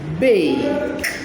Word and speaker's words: bake: Bake. Bake. The silent E at the end is not pronounced.